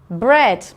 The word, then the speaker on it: bread: EA says eh. So let's have a look at the vocabulary. The first one is feather. Feather. Bread. Bread. Head. Head. And heavy. Heavy. Okay, so feather, bread, head, heavy. They all make the same sound, air, but they're all spelt with an E-A. We just don't hear the A, just the E.